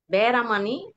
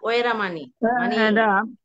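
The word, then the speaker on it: veramaṇī: পাপের চিত্ত হবে কিনা যেমন পানাতি পাতা বেরামানি এটা না অনেকে মানে বাদ উচ্চারণে ফালিতে এইভাবে না হবে নাকি পানাতি পাতা ওয়েরা মানি পানাতি পাতা হলে হইতো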